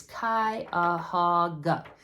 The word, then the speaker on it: Cuyahoga: People ask me all the time, how the heck do you pronounce that? It is Cuyahoga.